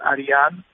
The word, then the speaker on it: Arian: what is your real name how do you pronounce it my real name is Ariane okay bas and so what is your